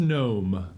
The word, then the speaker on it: gnome: The keyword is gnome. Gnome. No. Oh, Spell it right. Yeah. go. Remember, the G is silent. Silent G. Yeah, it's gnome. Like lasagna. It's pronounced gnome.